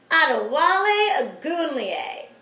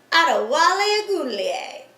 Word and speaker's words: Adewale Ogunleye: This week's guy is a defensive end for the Chicago Bears, Adewale Ogunleye. Let's hear it for him. Adewale Ogunleye.